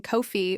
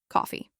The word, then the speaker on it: coffee: You might start the week struggling with coffee, maybe saying kofi or coffee, but by the end of the week, you're saying it naturally. I need a coffee.